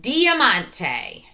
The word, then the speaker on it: diamante: diamante poems okay so first try to say it diamante your turn let's clap it out diamante four syllables diamante poems now I'm